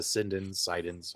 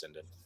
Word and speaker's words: Sinden: I've seen several owners of AtGames products connect Gun 4 IR, AE light guns, as well as Sidens, however you want to pronounce it, but I think it's Sinden, to AtGames arcade cabinets, but they all had to plug in a PC, right?